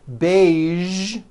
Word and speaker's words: beige: television very good now there are only a few words that have the voiced sound at the end a few of these words are the color beige the word massage and the word pristine